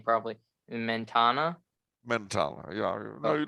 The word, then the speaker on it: Mentana: But they did have a momentous victory at, I believe I'm gonna butcher the name probably, Mentana. Mentana, yeah. No, Oh, you didn't Mentana.